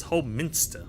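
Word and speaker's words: Holminster: into the whole Min Min not Minister it's whole Minster my bad into whole Minster we go once we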